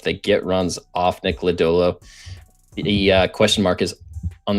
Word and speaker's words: Lodolo: So first off, Steve's calling Nick Lodolo Lardo in the chat was the highlight. Steve's name of the, and then asked how to actually pronounce it, and I was like, "There's not even an R."